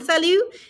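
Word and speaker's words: salut: here we go sally notice we're not pronouncing the t on salu and they're going to be many words like that that you're not going to pronounce that last letter all right next after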